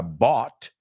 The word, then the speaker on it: bought: It's D-R-O-U-G-H-T, which is weird because si ves la palabra bought, compró o comprado, bought is B-O-U-G-H-T, bought.